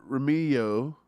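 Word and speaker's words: Nikko Remigio: um here it is Nico uh Romeo silent G baby uh the rookie wide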